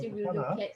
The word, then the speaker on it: Hana: So yeah, evaluator number 4, she wants to go by the name of Hana. So that I like to mention from her pronunciation.